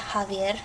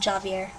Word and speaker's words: Javier: J in Spanish the J is the h sound of English that's where you get Javier not Javier okay um and then n